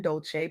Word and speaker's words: Dolce: I'm Dolce, pronounced dolce, like sweet softness whispered in French.